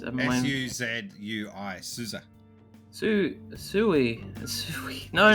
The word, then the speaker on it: Suzui: It's not Susie, it's Souza. Souza? Let me see. It's S-U-Z-U-I.